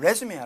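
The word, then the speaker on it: résumé: 이력서를 때는 레즈메야. 레즈메. 아, 강생 앞에 있고 발음이 틀려요.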